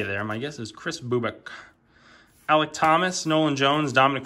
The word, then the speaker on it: Bubic: Chris, I think it's pronounced Bubic. Like, I think it's like a Eastern European type sounding name.